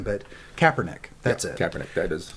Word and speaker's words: Kaepernick: no matter how much success they're having with copernic i can't remember how to pronounce his name but kaepernick that's it kaepernick that is um he uh